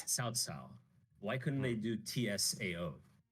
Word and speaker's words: Cao Cao: And I guess there you could have like there's a guy, his name is Cao, so it looks like cow cow, but it's Cao Cao.